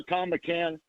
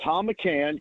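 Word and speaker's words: Thom McCann: I should also mention and sh this sounds like remember the old shoe store Tom McCann. It was spelled with an H t h o m.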